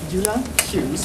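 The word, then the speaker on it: Jula Hughes: My name is Eula Hughes.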